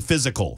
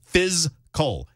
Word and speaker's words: fiscal: me to pronounce it I'm not saying physical physical has three syllables I'm saying fysal f i s c physical I don't know